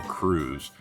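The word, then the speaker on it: krewe: I guess the word crew is a fancy spelling of it's spelled K R E W we e and it's a fancy spelling of how we spell crew c r e w to sound old school and and mysterious evidently.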